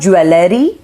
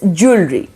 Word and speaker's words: jewelry: the ladies out there there is jewelry jewelry it is not jewellery its jewelry okay number 23 is data